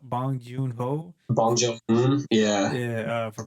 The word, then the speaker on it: Bong Joon-ho: How do you pronounce his name? Do you know how? Bong Joon-ho.